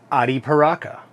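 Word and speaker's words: Arapiraca: I was looking at the blend on that, and it just Modafina wrapper, Arapacria, or however you pronounce that. Ariparaca. Ariparaca.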